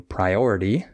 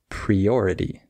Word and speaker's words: priority: instead of uh saying priority maybe you say priority and you just need to change the pre to pry or maybe you say